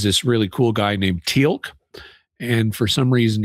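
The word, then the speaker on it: Teal'c: really cool guy named Tilk. And for some reason he's got an apostrophe in his name even though they don't pronounce it in any way.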